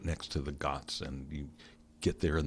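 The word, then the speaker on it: ghat: Ganga the Ganges river the got is spelled G H A T and there are these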